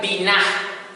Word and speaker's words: binah: Es la palabra hebrea, la raíz hebrea, binah, con acento en la A, binah en hebreo.